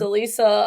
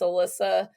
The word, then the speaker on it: Alysa: pronouncing people's names correctly my name is pronounced elisa a lot of people think it's alyssa and i had a